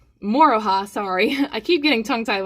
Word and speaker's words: Moroha: do with the shelf but this here is moro huh moroha sorry i keep getting tongue-tied when i say